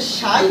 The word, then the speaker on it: psi: এটাকে আমরা বলে থাকি সাই। কি বলে থাকি এটাকে? সাই। উচ্চারণটা হবে হচ্ছে সাই, বাট ইংরেজিতে লিখে কিভাবে? PSI এভাবে লিখে, বাট উচ্চারণটা হবে সাই।